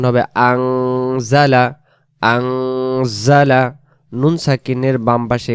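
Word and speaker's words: أَنزَلَ: টেনে পড়া লাগতেছে আলহামদুলিল্লাহিল্লাজি আজালা আন হবে না উচ্চারণ হবে আজালা আজালা নুন সাকিনের বাম পাশে এখানে জা অক্ষর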